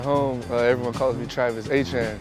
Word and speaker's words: Etienne: Back at home, everyone calls me Travis Etienne. It's like there's different ways to pronounce it, Etienne, Etienne, but everyone back at home calls me Travis Etienne.